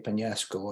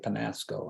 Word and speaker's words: Peñasco: a Spanish background, Peñasco, I always have to say Peñasco and make sure people understand how to pronounce it, because people are very quick and ready to say Penasco, and that grates with